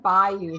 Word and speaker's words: bayou: I noticed it right that's on by you not bae you buy you I'm trying to become